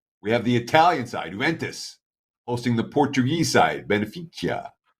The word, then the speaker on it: Juventus: Teddy, aces on your pronunciation, Juventus. Yeah. The J is silent.